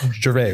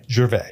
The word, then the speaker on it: Gervais: Is it Gervais, right? The S is silent. Otherwise, I want you to say your last name out loud. Gervais.